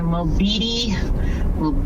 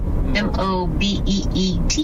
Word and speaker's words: Mobeetie: Going through Mobili, Texas is where he's at. Mobeetie.